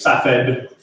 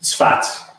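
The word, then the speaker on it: צפת: Primarily in a town called Tzfat, often spelled as Safed in English, but pronounced Tzfat. in Hebrew.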